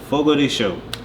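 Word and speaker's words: Fogo de Chão: can say one restaurant Fogo de show is that how you say yes what me and my husband been there twice so it's what my husband Dante Hancock we've been saying it wrong this whole time this is my favorite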